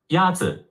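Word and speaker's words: 鸭子: Yatsu is pronounced with a first tone.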